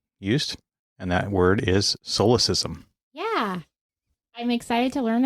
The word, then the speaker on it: solecism: And that word is solecism.